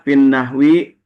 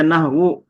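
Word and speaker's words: في النحوِ: Maka dibacanya nahwi. Tidak mungkin dibaca nahwu. F nahwu salah pasti.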